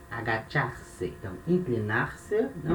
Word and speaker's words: agachar: O verbo agachar se escreve igual ao português, mas na hora de falar se fala agachar, né, esse CH com esse som de chá, né, chico, né.